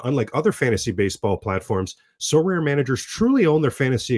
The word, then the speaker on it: Sorare: Now, unlike other fantasy baseball platforms, So Rare managers truly own their fantasy experience, collecting, buying, selling, and competing with player cards against global opponents to win epic rewards.